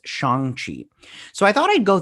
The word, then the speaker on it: Shang-Chi: But they released an article in Entertainment Weekly or whatnot, and they said it's Shang-Chi.